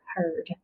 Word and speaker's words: heard: same with this one two adjacent vowels the a is silent the d changes that er sound to our heard i heard that you